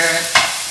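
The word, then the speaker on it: ail: just going to stir it I'm also going to add some garlic which in French is called i a i l and it's pronounced I I put garlic and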